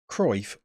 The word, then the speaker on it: Cruyff: Ui, so the U and the I together. Well, as in Cruyff, oi. I think Cruyff.